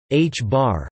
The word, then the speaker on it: ħ: It comes in increments of 1/2 h, pronounced h-bar.